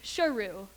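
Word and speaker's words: Sheru: all those years ago he had been pronouncing his own name incorrectly he was truly Shirou meaning lion this symbolism of his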